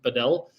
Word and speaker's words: padel: pedel courts there I'm I'm saying padel it feels so weird even though my mind tells me it's pedal it's padel um I'm pretty sure you